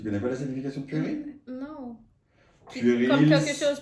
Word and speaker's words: puéril: Ronique, puéril. Huh? What? Puéril. Purée. What? Puéril. Puéril? Ça veut dire quoi? C'est quoi la signification? Tu connais pas la signification de puéril?